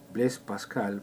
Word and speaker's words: Blaise Pascal: Blaise Pascal, pronunciación en francés, que nació en 1623 y desencarnó en 1662.